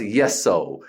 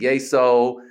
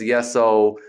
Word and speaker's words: Yesoul: No, it's Yesoul. That's what they say on the app and the trainers. It's Yesoul, which kind of makes sense. Yes to your soul.